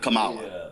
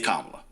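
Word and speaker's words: Kamala: First of all, um it's not Camala, it's Kamla. So, maybe you ought to get the name right, pronounce the name properly.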